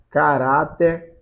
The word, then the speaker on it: caráter: Caráter perpétuo. Caráter tem acento, não sei, mas tem a técnica, né? Chama no portão caráter, É, né? Então é rá, né?